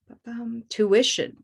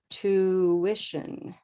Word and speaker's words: tuition: tuition to wishin tuition tuition three syllables there two wish and but one of them has more time than the others and it sounds like this tuition to with tuition so the stress is here right and this is